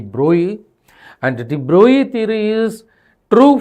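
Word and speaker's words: de Broglie: So what I want to say droy theory you say d brogley but actual pronunciation is going to be droi and droy theory is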